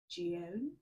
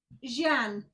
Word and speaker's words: Jeanne: So it's Jeanne. Jeanne. I'm so pleased I've got that right.